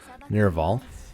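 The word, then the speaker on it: Nevarl: He hails from the desert fortress of Nirval, that's how you say it, home to a guild of noble thieves.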